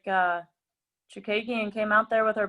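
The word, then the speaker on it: Chookagian: Chukagian, yes, there you go.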